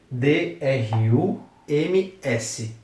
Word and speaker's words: drums: é Drums significa bateria D ru m s Drums novamente sobre a pronúncia tem esse U aqui mas tem o som de A nasalado então é Drum Drums próximo Violin Violin significa